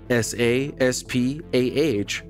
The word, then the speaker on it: SA/SPaH: The Sample Acquisition, Processing, and Handling, SASPAH, pronounced SASPA, system, a collection of devices gives Curiosity unheard-of capabilities for interfacing with the Martian surface.